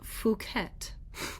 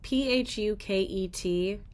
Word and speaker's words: Phuket: It's pronounced kind of like puket with the stress on the second syllable.